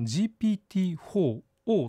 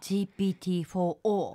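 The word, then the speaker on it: GPT-4o: てるんですけどこれあの読み方は O って読みますへえはいであのオムニの O なんですねあのオムニバスとかオムニチャネルの意味のオムニの O を取られてるんですけどま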